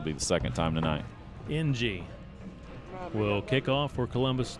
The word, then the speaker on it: Ng: It is the letter N and the letter G, and it's pronounced NG.